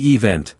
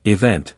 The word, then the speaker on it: event: Consider the word event. It's not event, but event, with the first syllable reduced. This transformation helps make speech more fluid and natural.